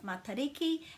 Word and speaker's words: Matariki: It's not matter because this has to have a break after it to make it ma, and the a is always pronounced that way. Matariki. And remember that this T with an A following it has got a flat sound.